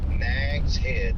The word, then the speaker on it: Nags Head: Nags Head.